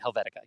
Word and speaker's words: Helvetica: I just mispronounced it. Helvetica, yes.